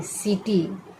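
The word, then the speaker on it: city: इसका उच्चारण करना है सी आई टी वाई सीटी कीटी नहीं होगा सी आई टी वाई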